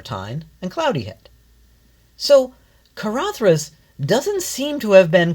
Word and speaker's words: Caradhras: So the proper pronunciation of Karathas is just that Karathas.